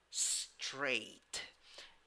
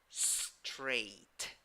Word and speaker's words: straight: Straight. When you write it, you need letter A and letter I. But when you pronounce it, you only have one vowel, one sound.